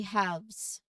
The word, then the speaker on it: halves: Maybe we can say halves the plural form of have. There's an LV combination in there, and the letter L is not pronounced.